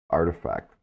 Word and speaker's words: RTFKT: the space by acquiring RT fkt pronounced artifact oh man thank you